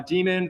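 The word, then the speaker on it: daemon: word up here uh demon with an a inside of it it's still pronounced uh demon this is an archaic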